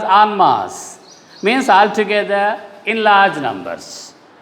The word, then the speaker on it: en masse: Just like en route is pronounced, it is pronounced as en masse.